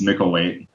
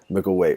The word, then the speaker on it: Micklethwait: of your restaurant right it's Mel weight ml weight why so what what is is that a um an Austrian no it's English just got the th that's